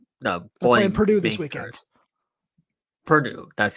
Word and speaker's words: Purdue: Purdue, that's how it's pronounced.